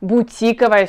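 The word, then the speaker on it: бутиковый: говорить это у меня бутиковой сумка я покупаю только будь тиковые вещи я люблю ходить по бутикам вчера была в бутике и так далее всегда на букву и падает ударение запомните это мы конечно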